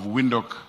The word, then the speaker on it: Windhoek: Oh, of course, my very good friend, Queen, the mayor of Windhoek, Namibia. They say Windhoek. We need to learn how to pronounce it.